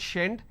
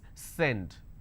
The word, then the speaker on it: send: So if you make a mistake, you will end up pronouncing this as shend, shend it. It's not shend, it's send.